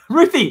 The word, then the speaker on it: Ruthie: I'm excited because we're going to get a canonized definition of how to pronounce Ruthie. Ruthie. Her name's Ruthie.